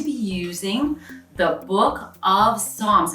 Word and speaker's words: Psalms: I'll tell you, there's 150 chapters in the book of Psalms. And Psalms is spelled a little bit different than it sounds. It's P-S-A-L-M-S, Psalm.